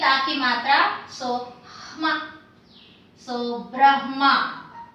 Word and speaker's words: Brahma: So this line should be pronounced, r should be pronounced after the b.